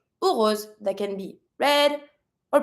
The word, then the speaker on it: rose: English and the French so in English you say rose in French from the throat rose rose that can be red or pink or white then we have the tulip.